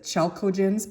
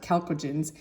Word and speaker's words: chalcogens: 16 is um calco it looked like it says chalcogens but you pronounce it cogens and those are um